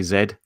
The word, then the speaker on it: Z: depends where you are if you're in the UK most people say Zed if you're in the u.s.